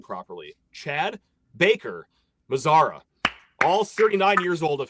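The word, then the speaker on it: Baker-Mazara: Chad Backer, Chad, if I could say his name properly, Chad Baker Mazara.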